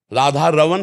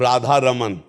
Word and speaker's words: राधा रमण: रमण सकल सुख दमा और शुद्ध शब्द है अगर इसमें उच्चारण करते हैं राधा रमण राधा रमण और राधा रमन राधा रमन णा को हटाकर ना ब्रज भाषा में ना का ही प्रयोग तो हमें चाहिए कि जो